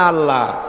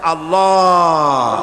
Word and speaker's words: আল্লাহ: এই উচ্চারণটা আমাদের অনেকের হয় না কেউ বলেন আল্লাহ আল্লাহ পাকের উচ্চারণটা হচ্ছে আল্লাহ পাকের নামের উচ্চারণ হচ্ছে আল্লাহ মুখটা একটু গোল্ড হয়ে যাবে বলেন আল্লাহ আল্লাহ সুবহানাল্লাহ পৃথিবীতে বিভিন্ন জাতি তার স্রষ্টাকে তারা